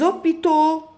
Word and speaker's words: hôpitaux: Parce que il y a ici un H muet. ما فيني نقول le hôpital, E ou O حد بعض, non.